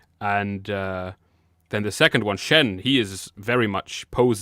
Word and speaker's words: Shen: the middle is Peacock, Shun the Peacock. Shun, yeah. Lord Shen. I love how you're like, Amy, it's actually Shen.